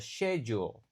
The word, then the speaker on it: schedule: Sekarang, sebagian orang membacanya sebagai "schedule" dalam bahasa Inggris Amerika, sementara yang lain sebagai "schedule" dalam bahasa Inggris Britania.